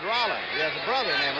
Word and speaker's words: Roland: lawrence has dropped back spells the name r-o-l-a-n-d pronounces it rolla he has a brother